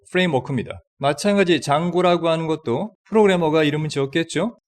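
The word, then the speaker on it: Django: 장고. D는 발음이 나지 않죠.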